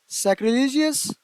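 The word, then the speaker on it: sacrilegious: Next है lack, find out the synonym of द, इसको pronounce किस तरह से करेंगे हम? सैक्रिलीजियस।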